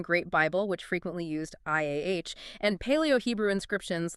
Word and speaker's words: Yah: Ia, like Yah. I-A as in hallelujah.